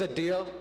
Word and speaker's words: Adeel: you whoever that was my name is a deal now that's not how you say it in my mother tongue but that's okay my